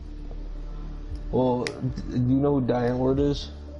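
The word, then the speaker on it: Die Antwoord: Well, do you know who Diane Ward is? Or Deant Wood is how they pronounce it.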